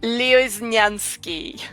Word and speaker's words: Lioznyansky: me just nope nope i'm gonna help you out leo is nyansky yep yep okay i